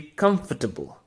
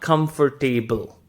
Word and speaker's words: comfortable: b l e however the sound is not f o r the sound is fur it's f u r